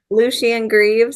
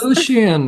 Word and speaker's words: Lucien Greaves: How do you pronounce it? Lucien Greaves. Lucien.